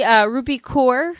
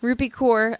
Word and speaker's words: Rupi Kaur: Check out the Rupi Kaur. Did I say it right? Yes. Rupi Kaur link that's going to be in the show notes.